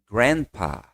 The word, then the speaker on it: grandpa: E você também pode chamar de grandpa. De novo, ó. Não fala o D forte, ó. Você corta esse D e vai direto pro pá, ó.